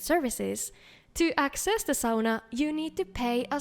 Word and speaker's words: sauna: taking a look at Saunas of Skyrim, the bathing mare. As you may know, sauna is the only Finnish word that has spread to other countries, and yes, that is how it's actually pronounced.